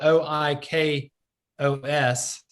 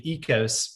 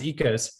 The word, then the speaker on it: Oikos: that's out there uh it's spelled o i k o s looks like oikos but it's actually ecos pronounced ecos that is actually not